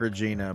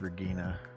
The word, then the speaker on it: Regina: name was was Regina it's spelled like Regina but it's Regina how was uh how